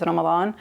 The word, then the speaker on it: Ramadan: You can say Ramadan if you want, but like in Arabic, it's the way, if you know Arabic, then you're going to want to pronounce it the correct way, which is Ramadan. I mean, if you can't say Ramadan, it's okay. Just say Ramadan, but please don't say Ramadan. It just sounds weird.